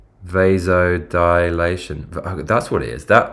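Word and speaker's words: vasodilation: I get the pronunciation wrong. It's not visolidator. It's like vas vasil. What is it? Vidation. How do you pronounce it? Dude, my eyes are watering. Oh, it is. Yeah. V vasod dilation.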